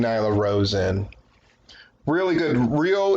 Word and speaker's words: Ryo: Rio is actually how you would pronounce the name, but they were saying Rio.